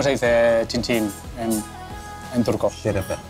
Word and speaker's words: Şerefe: Şerefe. Şerefe.